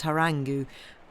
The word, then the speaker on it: harangue: But the venom of the chaplain's harangue— I've never actually heard that word pronounced out loud, there we go, harangue, I think, had worked into his blood and sapped the life of his sweet contentment.